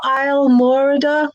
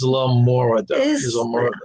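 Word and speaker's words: Islamorada: Is that how you pronounce it, Papa Mozo? Isle Morada? I knew I always... Isla Morada.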